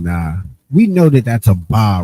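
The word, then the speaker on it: אבא: We know that that's a ba right there. That's clear as a va. A, but it's pronounced aba.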